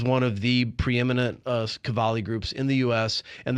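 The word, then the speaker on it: Qawwali: Riaz Kowali. Very close. Riaz Cavali. Kavali. Okay. I'm just pronouncing those those W's wrong. Okay. Kavali.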